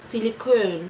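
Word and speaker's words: silicone: Bu nasıl okunuyor? Hemen bakalım. Silikon deniyormuş Fransızcada.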